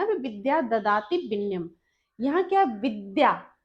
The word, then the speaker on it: विद्या: तो यह जो चीजें हैं, कह रहा है कि सार्थक इकाइयों में बांटे, ना कि विदया, विदया ददाति विनयम नहीं कहना है मुझे, यह मुझे कहना है विद्या।